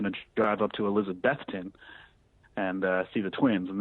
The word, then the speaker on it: Elizabethton: It's Elizabethton. You really, when you start to say that word, think of Beth, the name Beth. Someone, I was actually doing a little radio interview, a local ESPN affiliate about my trip, and I said Elizabethton, and they're like, nah, think of the Kiss song, Beth, classic power ballad.